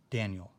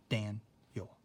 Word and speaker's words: Daniel: And so, like if I take my name, Daniel, you can hear it, Daniel. The accent's in the first syllable for my name, Daniel.